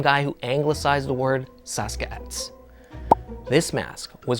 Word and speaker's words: Sasq'ets: The word Sasquatch is an anglicized version of the Stalis nation's word for it, which is Saskat. That's almost how it's pronounced in the Hulkum language.